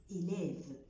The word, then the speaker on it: élève: من الكلمات اللي بحب أستخدمها قوي هي كلمة élève، لان فيها ثلاث اشكال من او بتخليني افهم الثلاث اختلافات في النطق. فالاو الاولانيه عليها اكسون تيجو فنطقتها اي، الاو الثانيه عليها اكسون غراف ونطقتها اي، والاخرى الاخرانيه ما نطقتش نطقتني الفي اللي قبلها فبقت اي لاف.